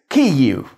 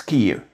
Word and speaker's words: Kyiv: After vowels, this Ukrainian R sound shows up as a pretty short U. Putting all this together gives us Kyiv. So there you go. If you really want to say it like the Ukrainians, it's Kyiv.